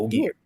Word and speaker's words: Ogier: Ogier.